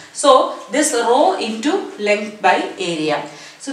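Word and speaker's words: rho: letter it is uh name is row r h o row it is pronounced so this row into length by area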